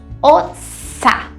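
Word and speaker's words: אַתְּ: No feminino singular, nós vamos ter ossá. Veja que a diferença aqui do masculino para o feminino está nesse som da vogal, tá? Que termina ali na sílaba. O masculino vai terminar com esse som de E. Você. E o feminino vai terminar com o som do A.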